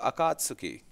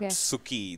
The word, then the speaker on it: Akatsuki: It's not Suki. Like the word does not end with Akatsuki? Yeah, it's Akatsuki. It's like Akatsuki. I used to say Akatsuki. This U is silent.